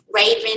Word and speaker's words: Rhavynn: Twinkie Bird director, Raven Drummer. Her name is spelled RHAVYNN Drummer.